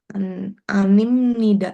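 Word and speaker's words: 아닙니다: Animnida. Bacanya gimana? Animnida. Amnim nnida. He ini kan eh tadi ya ditambahin si B sama N itu jadi M ya.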